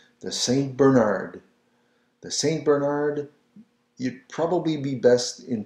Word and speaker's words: Bernard: And Bernard is pronounced Bernard, le Saint Bernard, le Saint Ber, again rolling the R, Nard, Bernard, le Saint Bernard, le Saint Bernard.